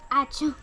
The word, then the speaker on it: Ačiū: Ačiū. Ačiū? Yes, ačiū. It's like apšiu.